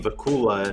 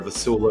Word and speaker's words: Vacula: Well, just like my name, Vacula, not Vacula or Vasula or Vachula, or I've exactly.